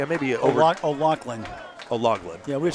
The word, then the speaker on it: O'Loughlin: O'Loughlin. O'Loughlin. Yeah, we've said O'Loughlin. It's O'Loughlin. So it's the hard G that's the important one.